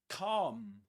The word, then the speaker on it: calm: And this is calm. Calm in British English. Calm. Calm with a long R sound. Calm. Not calm. The L is silent. You don't say calm, but calm.